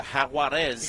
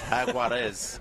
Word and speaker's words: Jaguares: going to say the Jaguares. Oh, can you say that Latin thing? What is that all about? It's Jaguar, isn't it? It's Jaguares.